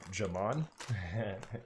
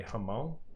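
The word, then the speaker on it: jamón: I've been told I need to stop saying it the Westerner way. I just think it's so funny when I pronounce it with a hard J. Jamon, aka Hamon. Hamon.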